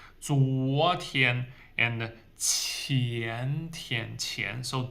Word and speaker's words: 昨: 左 is the Z sound. 左 like zip. 昨天 and 前天.